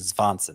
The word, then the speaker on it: Svanson: run or prospective closer run here with Matt Svanson. Spelled just like Swanson, but with a V instead of a W. It seems that is the actual pronunciation, Svanson.